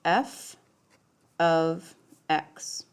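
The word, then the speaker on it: f(x): so what this means right here this is pronounced f of x and this does not actually mean I know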